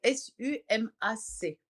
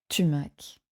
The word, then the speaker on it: sumac: s'écrit? Sumac, S-U-M-A-C. Tumac.